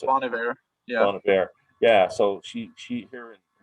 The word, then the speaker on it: Bon Iver: I never know how to pronounce it. Bon Iver.